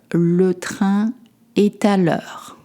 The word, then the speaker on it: Le train est à l'heure: Le train est à l'heure. You've noticed that I link together. Le train est à l'heure.